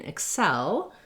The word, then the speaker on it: excel: in our stressed syllable so in excel it sounds like the word cell it has the red tent vowel and then our first letter e doesn't have the red tent vowel instead it has a reduced vowel if like the sound